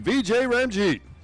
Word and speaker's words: Vijay Ramjeet: Thank you for the pronunciation, Vijay Ramjeet.